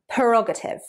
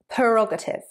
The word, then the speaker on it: prerogative: Prerogative. Prerogative. Prerogative. 4 syllables. Stress on the second syllable.